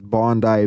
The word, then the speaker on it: Bondi: You know, the interesting thing about the Australia thing especially is is Bondi Beach, it's spelled just like Bondy, like Pam Bondy.